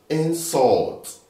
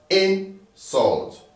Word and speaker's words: insult: So now, if you're using this as a verb, the right pronunciation is insult, insult. But if you're using it as a noun, the right pronunciation is insult.